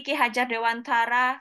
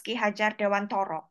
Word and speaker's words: Ki Hajar Dewantara: Actually, Ki Hajar Dewantara sometimes pronounced as Ki Hajar Dewantara. It Yes. is the Javanese pronunciation, but okay, from this session, I will say it is Ki Hajar Dewantara.